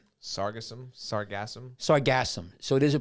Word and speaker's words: Sargassum: And how do you pronounce that? It's Sargassum.